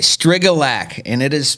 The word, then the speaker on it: Strygulec: a really unique start first of all it pronounce your last name for everybody strigalek all right Strega lack and it is pronounced it's one of those